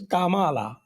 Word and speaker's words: Kamala: नहीं, it is pronounced as Kamala.